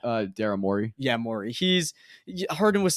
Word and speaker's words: Morey: Yeah, Morey.